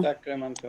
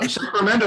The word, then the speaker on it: Sacramento: No, Sacramento is correct, but I love the accent you put on it, Sacramento. Sacramento. Yes. And when the Spanish were here, it was Sacramento. They make the R trill.